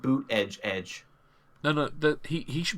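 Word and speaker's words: Buttigieg: already he's only 36 Oh pronounced boot edge edge no no that he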